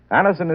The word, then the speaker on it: Anacin: Anison is spelled Anacin.